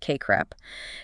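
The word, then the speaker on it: CACREP: The Council for Accredititation of Counseling and Related Educational Programs or KREP pronounced KR CREP.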